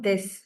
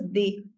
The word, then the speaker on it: des: S in the end is never pronounced in French. So, this is also not des. The pronunciation is di.